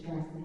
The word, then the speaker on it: JCKSN: We have music available, and actually our name is spelled Jackson without the vowels, JCKSN, but it's Jackson Avenue.